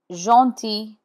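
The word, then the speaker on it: gentil: Jeanti means kind. Here the G is in front of E and the final L is not sounded.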